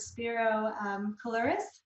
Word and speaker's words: Spiro Koulouris: I'm here with Spiro Coloris. Did I Yeah, pronounce it right?